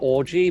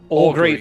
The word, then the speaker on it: augury: I need help with the pronunciation of this because, in my mind, it spells out orgy, but it doesn't. It spells out augury.